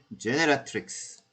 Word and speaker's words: generatrix: 그래서 generator, generatrix. 좀 발음이 어렵죠? 그래서 generator에 genera까지 외우시고, rix만 붙여주면 돼요. generatrix.